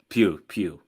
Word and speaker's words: Pugh: but Pew. Florence Pugh.